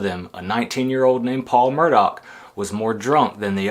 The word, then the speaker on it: Murdaugh: Connor was a construction worker, and Paul was a Murdaugh, which is pronounced Murdaugh.